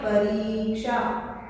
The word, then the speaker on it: परीक्षा: क्योंकि हम इसका उच्चारण गलत करते हैं। अब आप ध्यान रखिएगा, ये दो शब्दों से मिलकर बना है, परि प्लस ईक्षा बनेगा परीक्षा। परीक्षा में हमेशा बड़ी की मात्रा आती है।